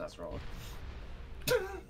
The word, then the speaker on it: Acerola: Yeah, it's pronounced Acerola.